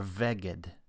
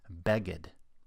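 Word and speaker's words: בגד: Its first letter, bet, has the Dagesh kal, because it's a letter that has two possible pronunciations, be and ve. That means we need to know whether to pronounce this word beged or veged.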